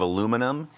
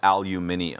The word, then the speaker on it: aluminium: How does everybody feel about the difference between American pronunciation of aluminum and like British pronunciation of aluminium?